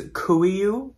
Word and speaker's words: KUIU: another brand and that brand is kuyu and that is spelled kuiu so kuyu is mainly